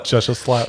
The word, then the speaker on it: Gesellschaft: Gesellschaft. Schaft. I know the last part of it is shaft. Yes. Yep. Gesellschaft. Whatever. Well, Gesellschaft.